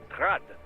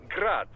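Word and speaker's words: Град: Technically, the UG's name is pronounced Grad, the Ukrainian way. But most in the business pronounce it as Grad, Russian style.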